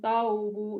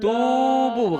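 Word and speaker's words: توبوا: Ya ayyuhalladzina amanu taubu ilallah Tubu bukan taubu.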